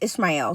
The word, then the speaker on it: Ishmael: And that's how it says it, Ishmael.